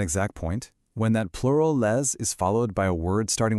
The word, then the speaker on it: les: It sounds exactly like the English word lei.